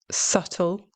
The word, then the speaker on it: subtle: You pronounce this word subtle.